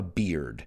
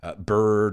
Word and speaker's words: beard: he didn't have a beard careful with the pronunciation i've heard a lot of people say bird or bard it's beard barba in espanol and